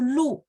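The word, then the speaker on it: 绿: Nah, ini mungkin teman-teman melihat, oh iya ya, kalau salah spelling aja, mulutnya nggak bulat, artinya jadi berubah gitu ya. Nadanya sama ya. Satu lu, satu lu.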